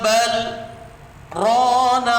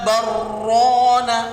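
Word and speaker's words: بل ران: Kalla bal rana ala qulubihim. Kalau yang tidak tahu dia akan diidghamkan. Kalla barrana. Salah.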